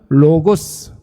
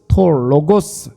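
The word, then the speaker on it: λόγος: 헬라어로는 로고스, 로고스 이렇게 발음하는데, 여러분, 로고스가 뭐예요?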